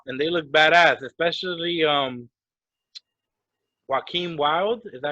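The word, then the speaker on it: Joaquin Wilde: I thought they came out and they looked badass, especially Joaquin Wild. Is that how you pronounce it?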